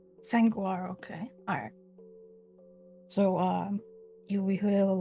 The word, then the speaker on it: Sanguaro: Sanguaro. How do you say that? How do you type that? S-A-N. Go ahead. Guaro. It is a combination of saguaro and San Pedro cactus. Sanguaro, okay.